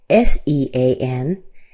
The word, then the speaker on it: Sean: Now, interestingly enough, S E A N is usually pronounced differently.